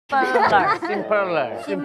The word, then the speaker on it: Simperler: Simperler. Gitu bacanya, Simper.